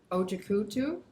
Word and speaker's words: Ojakutu: We have Tia Campbell, and we have Joseph Herbst, and Carolyn Ojakutu. She told me that's how you say it.